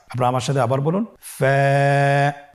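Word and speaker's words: ف: ফা হরফটি উচ্চারণের ক্ষেত্রে বারিক হবে এবং এক আলিফ টেনে পড়তে হবে। আপনারা আমার সাথে আবার বলুন। ফা।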